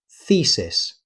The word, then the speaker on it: thesis: The correct pronunciation is thesis. Be careful not to say thesis. The first syllable has a long e sound.